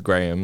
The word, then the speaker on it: Graeme: It's Graham. Like you would say like a graham cracker or whatever.